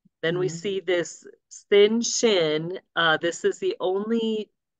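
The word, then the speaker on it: שׁ: I remember is that sin is never right so when you see the dot like when you see the dot over here on the left then you would pronounce it with a s sound and when you see the dot on the right you would pronounce it with an S sh okay so it's the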